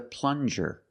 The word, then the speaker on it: plunger: This is a plunger. Plunger. Use the regular N and the J sound, like juice.